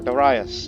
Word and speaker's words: Darius: And then there was some guy, then Cambyses is in between, and then Darius. Or Darius, depending on your pronunciation.